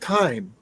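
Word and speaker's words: thyme: said Pine seeds too I said time time it sounds like Pine so the H is silent I didn't say Cuban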